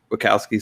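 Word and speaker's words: Wachowski: understand where the uh buckowski sisters is their name i i don't know their first names anymore um but yeah it's the wakowski sisters i believe it's pronounced um so i think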